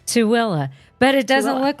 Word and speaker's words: Tooele: Tooele. But it doesn't Tooele. look like that because it's Tooele.